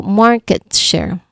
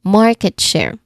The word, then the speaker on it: market share: So market share. Okay. Share. Share. All right. This is a compound noun with stress on the first part, right?